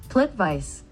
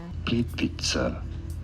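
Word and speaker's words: Plitvice: Plit vice. Plit vice. I speak Croatian. Plitvise. This is American pronunciation. How do you say it in Croatia? Plit Vitza.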